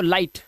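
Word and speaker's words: light: सीखें और जीएसटी में आया जी एच बिल्कुल साइलेंट होता है। ठीक है? कैसे होता है? आइए दिखाता हूं। तो उस हिसाब से ये पढ़ेंगे। लाई और जी एच साइलेंट तो लाइट ऐसे ही फाइट टाइट राइट और नाइट।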